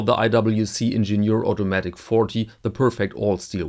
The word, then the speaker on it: Ingenieur: good time for this Ingenieur. By the way, Ingenieur means engineer, same spelling in French and German, so I will choose the German pronunciation for this video.